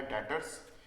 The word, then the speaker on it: debtors: तो अगली जो टर्म है हमारे पास वो है डेटर्स। इसमें जो बी है वो साइलेंट होता है, ठीक है।